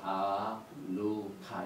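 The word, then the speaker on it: חנוכה: 생각하고 싶은 것은 이 한우카라는 단어를 히브리어를 이렇게 씁니다. 아누카 이렇게 발음해요.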